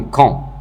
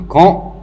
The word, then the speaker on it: camp: On a un camp. Un camp, il s'écrit avec P, mais le P, il n'est pas prononcé.